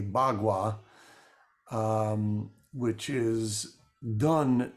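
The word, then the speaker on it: Bagua: deals with energy uh called bwa spelled paqua um but any um well- defined uh person speaking the higher Chinese would say bwa um which is done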